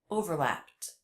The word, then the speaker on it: overlapped: never overlapped never overlapped notice the ED ending here is pronounced as a tee an unvoiced sound that's because the sound before p was also unvoiced overlapped overlapped never overlapped never